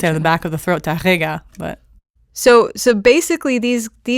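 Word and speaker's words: Tárrega: if there's an TGA there's an accent on the E but there's no accent it's on the a so it's TGA I not even Spanish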